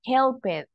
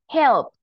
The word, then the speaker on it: helped: t we don't say help it we don't say look it wash it watch it or kiss it right so when you see this letters remember it sounds like a t helped looked and the final sound